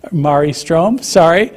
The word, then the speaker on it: Marie Ström: He's a senior scholar of public work, philosophy, and the co-founder with Marie Ström, his wife, Marie Ström, rhymes with safari.